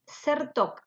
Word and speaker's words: Czertok: Luego tenemos en la Cámara Civil el plenario que los autos son CERTOC, que se escribe CZERTOK, Oscar, con asistencia médica personalizada S.A.